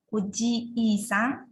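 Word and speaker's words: おじいさん: Karena di Jepang itu banyak kosakata atau kotobanya itu dia pengucapannya hampir sama, tapi yang membedakan adalah vokalnya. Seperti itu. Nah, di sini ada oji-sang, ini paman. Oji-i-sang, kakek.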